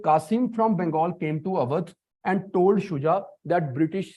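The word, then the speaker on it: Awadh: he came to Earth this is avat the British cannot pronounce other so they used to call it auth so this is avat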